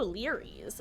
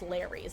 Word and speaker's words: Leary's: Ooh, Leary's. The map that's not pronounced Larry's, despite me pronouncing it Larry's for years now.